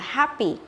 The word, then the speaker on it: happy: Thế còn cái này nó không phải là âm e đâu, mà nó là âm e bẹt, nên mình phải đọc là happy, happy, ok?